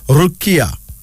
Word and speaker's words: Rukia: Then there's Rukia, Rukia, R-U-K-I-A, Rukia.